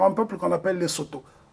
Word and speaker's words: Sotho: C'est le cas du Lesotho, et qui est majoritairement habité par un peuple qu'on appelle les Soto. Soutou, ça se prononce en langue locale.